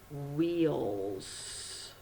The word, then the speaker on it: wheels: Double E will give you the long E sound in wheels. Wheels. Wheels. Okay, let's spell it together now. You've got, of course, WH with your silent H there.